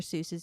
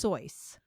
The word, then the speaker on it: Seuss: Seuss's name cuz it's now dr. Seuss what his last name is pronounced sois no it's not it's pronounced sois what the hell he's